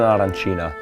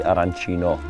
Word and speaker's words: arancina: This is an arancina, known here in Palermo. Also in most of Italy, arancino. Basically, it depends on how you pronounce it. Arancia or arancio, which means orange.